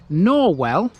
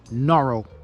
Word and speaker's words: Norwell: in a place called norwell but the locals here call it norrell whichever way you'd like to pronounce it let's go and have